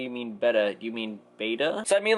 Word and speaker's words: betta: people will say so the proper one is actually pronounced betta like bed and most people just say beta and leave it I